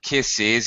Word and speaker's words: kisses: If I talk plural for the noun, kisses, it's the same. It's still is, IZ ending.